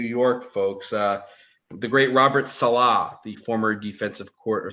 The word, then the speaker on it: Saleh: The great Robert Saleh, the former defensive court, or Saleh, I guess Salah is maybe a little bit too much emphasis on the ending of his name, but Robert Saleh.